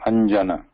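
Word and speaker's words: अञ्जन: So anjana, here there is ja, so we should not write it any other way, like this. Because the pronunciation of this anusvara, this is not anunAsika, right? The dot is anusvara, whereas this ya is anunAsika. The pronunciation is different. And when we say anjana, we are pronouncing it as ya here.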